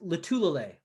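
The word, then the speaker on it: Lotulelei: I still think I think you still pronounce Star Lutulele's name wrong. How do you do it? Me? Yeah. Star Lutulele. Yeah, it's Lutulele.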